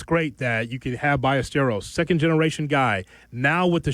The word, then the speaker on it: Ballesteros: You think they're going to pronounce the name properly? It's Chicago. It's Ballesteros.